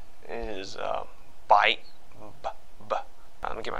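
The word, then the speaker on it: 八: eraser that's really bad so it's bite like you know I say bye when saying the whole thing out just say bye bye so no tape bite don't don't don't you know fully pronounce this word right here don't fully pronounce it so 8 no take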